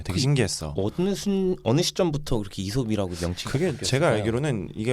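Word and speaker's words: Aesop: 근데 해외에서는 에이솝이라고 부르지 않아요? 거기서 이솝이라 그런가? 해외에서도 이솝이라고 저는 이솝이라고. 네. 그러니까 원체 오리지널 발음이 이솝이 네.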